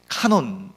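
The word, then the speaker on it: κανών: 캐논 일하고 있는 것이고 이 헬라어로 는 카논 이라고 읽습니다 카논은 뭐냐면 원래 이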